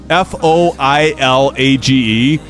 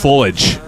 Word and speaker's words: foliage: isn't it fo o f o i l a g e and I I like tried to pronounce it I'm like foilage and she's like no it's just foliage fish that's not how